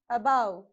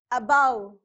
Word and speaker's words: above: to stress use force on that syllable and pronounce it okay it is alone above okay the stress here is on b above about above now the second prefix is b so become